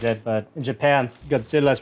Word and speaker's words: Godzilla: watching the movie, I'm like, God damn it, I really want a Godzilla shirt now.